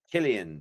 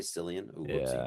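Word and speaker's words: Cillian: Killian. Did I say Sillian?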